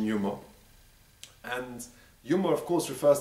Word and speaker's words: יומא: the aramaic word for literally the day some pronounce it yoma but we're going to use the word yuma the pronunciation yuma and yuma of course refers to v-day the